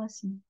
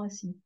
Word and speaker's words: assis: ces conjugaisons assez rapidement, le A de assis est assez léger. Ils auront assis. Ils ont assis. Le A, on l'entend à peine.